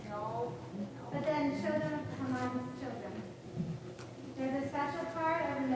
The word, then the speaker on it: Haman: Queen Vashti and Harry.